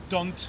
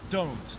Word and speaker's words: don't: Nie powinniśmy tam mówić don't ani don't. Tam nie ma ani polskiego o, ani polskiego on. Tym bardziej tam jest angielskie o. I don't. O, o, o. O, o, o. I don't agree.